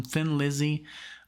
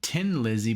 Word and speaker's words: Thin Lizzy: them thin lizzy uh somebody in the comment section said tin lizzy but i guess that would be the way you pronounce it if you're in ireland since they're from ireland but let's just call him